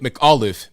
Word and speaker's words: McAuliffe: running for governor terry help me with the pronunciation of it mccoffee or something mick mcauliffe mick olive mcauliffe okay that's been throwing me